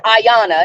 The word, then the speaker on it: Ayana: in my opinion um because it's Ayana it ain't that complicated right it's a y n a it's not hard to pronounce her name so I I really